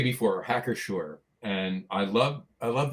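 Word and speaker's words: Hacker-Pschorr: I was going to say before hacker shore and I love I love the name hacker shore because the second name not hacker but shore because the p is silent.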